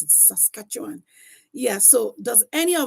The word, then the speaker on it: Saskatchewan: Alberta, British Columbia, Manitoba, New Brunswick, Nova Scotia, New Finland and Labrador, Ontario, Prince Edward Island, Cubec and Saskatchewan.